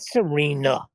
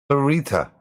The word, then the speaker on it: Sarita: No, not Serena. Not Serena, the teenage witch. Sarita. That's Serena. Sarita. Sarita. Sarita. Yes. Now you've pronounced it correctly.